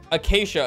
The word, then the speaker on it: acacia: Acacia is how you pronounce it.